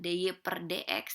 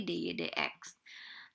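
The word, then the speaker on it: dy/dx: Kalau kayak gini sebutnya nggak DY per DX, tapi DY DX.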